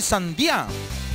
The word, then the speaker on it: sandía: Sandía, ándale, con acento en la I. Sandía.